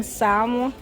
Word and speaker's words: salmon: salmon anybody want some salmon ain't nobody eating that fish for the summer why it pronounced without L the English language is